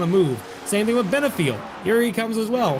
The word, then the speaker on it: Benefiel: I believe it's Benefiel, F-I-E-L, Fiel.